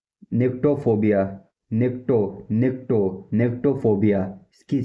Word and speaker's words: nyctophobia: निक्टो निक्टो निक्टोफोबिया। इसकी spelling है NYCTOPHOBIA।